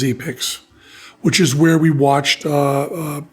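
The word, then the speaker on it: Epix: was on e picks which they pronounced epics but I believe is e picks which is where we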